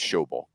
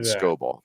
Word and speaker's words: Schobel: It's Schobel is how you say his last name, not Scobel.